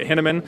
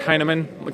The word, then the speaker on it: Hinaman: A lot of people pronounce it Hinaman, and that's incorrect. It's Hinaman. Kind of like, hey man, are you high?